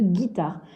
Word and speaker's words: guitare: une guitare c'est une guitare donc ce petit eu là je vais m en briser puisque on ne l'entend pas à le ici il y est mais ne se prononce pas c'est une être muette